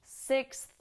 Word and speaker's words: sixth: tongue work here sixth so the key is to stick your tongue out at the end six do it slow and then you can speed up six okay very good